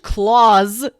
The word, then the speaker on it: Klaus: I'm going to keep pronouncing it like, the German name and not Santa Claus. So we can watch Claus, Scrooged.